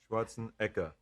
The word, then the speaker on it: Schwarzenegger: I mean, but it is Schwarzenegger. Schwartzen. Schwarzene. Actually in Austria they pronounce it ekaenka.